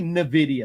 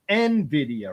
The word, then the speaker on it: Nvidia: that broadcom one uh I always say Nidia but it's Nvidia right yeah I hear both Nvidia and uh Nidia I think you say it correctly you say nid I say Nidia there's no I between it's just n and Nvidia okay Nvidia um so it's